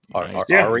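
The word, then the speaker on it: Aria: visiting around there is complete and Box Castlevania ARA of Sorrow that's how you say it ARA of Soro yeah you're good but box is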